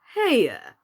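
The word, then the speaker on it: Haigha: happy his name is hey're he pronounced it so as to rhyme with Mayor I love my love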